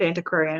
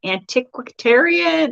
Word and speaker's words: antiquarian: of me because i couldn't pronounce antiquarian it was the first time i'd like tried to pronounce antiquarian it's one of those words you sees and i'm like antiquitarian and into aquarium but yeah well now